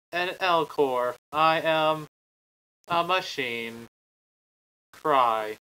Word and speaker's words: Elcor: I think it's the Elnor. Right? The what? The Elnor from Mass Effect. Oh. Gotcha. They're a race of... They are pronounced the Elcor.